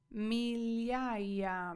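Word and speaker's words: migliaia: додай кусочок часничку наступне слово Я вас слухаю мільяя мільяя мільяя означає тисячі Угу отдивофарея козе Сьогодні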